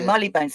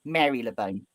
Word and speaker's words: Marylebone: You don't say the Y in Mary. Yeah, it looks like the Y. It's not Marylebone.